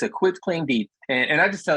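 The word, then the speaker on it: quitclaim: It's quit, like, hey, I quit this game. It's a quit claim deed, and I just tell that because a lot of people say quit like running fast.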